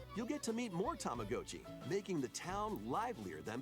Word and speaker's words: Tamagotchi: Well, even if you did emphasize the Go, it would still be Tamagotchi, not Gochi.